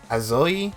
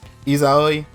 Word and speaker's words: Izayoi: Because I honestly didn't know Azoi, that's how you say her name? Izayoi.